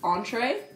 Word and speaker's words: entrée: Oui, donc entrée aux États-Unis ça veut dire le plat principal et ça se prononce entree.